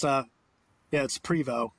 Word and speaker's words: Prevost: Yeah, it's Prevost. Yeah, it's French. The T is silent.